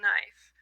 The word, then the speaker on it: knife: For example, we used to pronounce knife, knife. That's why it still has a K. But we dropped that consonant, so we went from saying knife to knife, right?